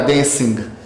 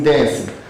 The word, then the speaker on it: dancing: Lembrando, a pronúncia desse G em inglês é mudo. Não vai ficar dancing, como eu ouço muita gente falar, sim dancing. Você vai ler só até o N.